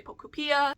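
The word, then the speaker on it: Pokopia: I've seen this pronounced a couple different ways. By the way, I say Pocopia, I see people say Pocupea. I don't really care. I want to say Pocopia. That's what sounds right to me, so leave your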